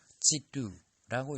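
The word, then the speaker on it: 基督: 물론 중국 사람들은 그걸 기독이라고 읽지 않고 지뚜라고 읽습니다.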